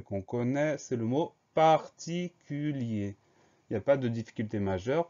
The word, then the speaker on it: particulier: ça donne particulière et on entend ce r qui est muet dans le mode particulier donc on fait simplement